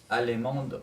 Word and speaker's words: allemande: Êtes-vous Allemande, madame. Très bien. Êtes-vous allemande, madame? Aquí la D se pronuncia porque añadimos una E. Sin la E, la D no se pronuncia.